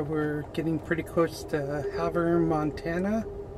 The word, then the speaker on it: Havre: getting pretty close to having montana that's how the conductor said it so although you know come on if you're going to call it haver h-a-v-e-r not h-a-v-r-e there's no err it's re come on folks rant over